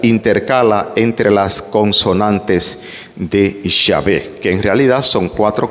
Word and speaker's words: Yahvé: en los ambientes católicos con la forma de pronunciar el nombre sagrado de Dios como Jehová. Hay que acabar con eso. Seamos fieles al texto original más antiguo, diciendo Yahvé o diciendo el Señor o simplemente diciendo Dios.